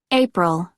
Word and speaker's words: April: pronounce these consonants March April April April this the sound is like in first in third in birthday but I think all of